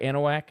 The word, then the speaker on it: Anahuac: Anahuac?